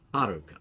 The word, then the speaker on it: Haruka: It's also still, it's on the ha. Is the first syllable. Haruka. Haruka.